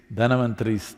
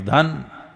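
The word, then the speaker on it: Dhanvantari: It is Dhanavantari's Trayodashi. North Indian people must connect, don't go on clipping away one syllable and come Dhanavantari becomes Dhan, Trayodashi becomes Tera. Don't keep clipping it away So, here we are.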